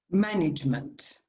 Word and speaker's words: management: Management. The stress is on the first syllable.